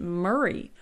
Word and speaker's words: Mary: interesting linguistic note here her name was Mary but the most often pronounced it Marie and I have read